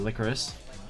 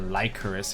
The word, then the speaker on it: Lycoris: So yeah, there's 1200 damage taken from the Licorice. Or Lycoris, if you guys want me to pronounce it a bit more correctly.